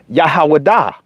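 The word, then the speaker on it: יהודה: Well, the actual ancient pronunciation is Yahawadah.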